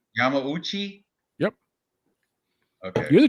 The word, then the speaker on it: Yamauchi: how do you say his name Yami right Yamauchi yep okay you're the J you're the Japanese